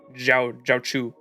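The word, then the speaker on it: Jiaoqiu: Jiao Q or Jiao Chu? Jiao Chu, right? Because the Q is pronounced with like a CH, so it'd be like Jiao Chu.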